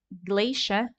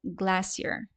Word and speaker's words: glacier: concept for now uh glacia or glassier right both are okay but you do need to pronounce this word correctly right glacia or glassier